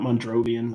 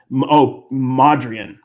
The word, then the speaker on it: Mondrian: It's not Mondrovian. I don't know what. Yeah. Mondrian.